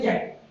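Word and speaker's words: Jacques: Now they write Jaqueque and they pronounce only Jack.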